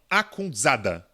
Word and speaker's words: Akhundzada: Não, Akhundzada. Aí a pronúncia fica por minha conta.